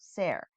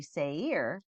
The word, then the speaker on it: Seir: So here on Blue Letter Bible, if you look up the pronunciation, I'm saying it wrong, I guess, is actually Seir.